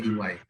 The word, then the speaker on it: EY: PricewaterhouseCoopers, ada Deloitte Matsu, Deloitte, kemudian ada 3 KPMG, yang keempat adalah Ernst & Young atau EY, jadi bacanya EY.